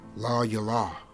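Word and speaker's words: לַיְלָה: That word is pronounced la yalah.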